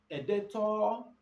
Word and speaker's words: debtor: who is a debtor editor is anybody who is indebted to the business now most people mistake this word for digital it's not baby talk it is better that b is silent editor is anybody who